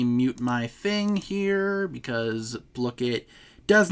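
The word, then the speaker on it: Blooket: Let me mute my thing here because Blookit does not like to mute itself. By the way, I found out that the official pronunciation of this today is Blookit, like blue.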